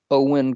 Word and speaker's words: Eoin: would definitely have to think about it that's owen colfer he is a number one new york